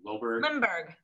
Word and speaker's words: Limberg: David Liberg, how do you pronounce his last name? Limberg.